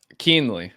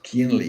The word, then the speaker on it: Kuehnle: get into all those things how do you pronounce the surname surname keenly it's a lot easier than it looks keenly yeah nice nice I I was having some